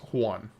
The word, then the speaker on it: Juan: I mean, it's pronounced in in Spanish Juan is pronounced Juan.